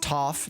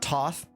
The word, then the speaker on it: Thoth: It's actually pronounced Toph, not Toth.